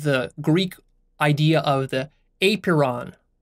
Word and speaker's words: apeiron: And then we have the Greek idea of the apeiron, spelled A-P-E-I-R-O-N. Apeiron. It's kind of weird to pronounce.